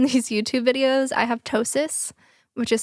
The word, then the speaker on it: ptosis: Also, if you're looking at my eye right now in these YouTube videos, I have ptosis, which is spelled Ptosis, induced from Botox, which happened to me last year as well.